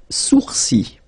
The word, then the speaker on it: sourcils: Les sourcils. Okay, so it's quite strange because you get this LS at the end, but then, well, you don't pronounce them.